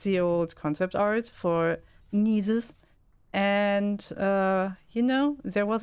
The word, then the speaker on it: Gnisis: It's just Gnisis. Gnisis. You don't Gnisis. pronounce the first consonant.